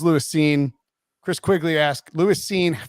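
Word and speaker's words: Lewis Cine: earlier it's like oh it could definitely be like louis sign but it is lewis scene chris quigley asked lewis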